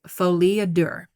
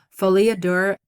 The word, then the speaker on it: folie à deux: I could be mispronouncing it, but I did Google it to try to figure out how to pronounce it. So I think that's right. Folie à deux. It's French.